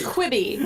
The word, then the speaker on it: Quibi: I never knew how to pronounce it. I think it's Quibi.